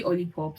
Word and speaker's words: Olipop: I would say Olipops because it rhymes with lollipop.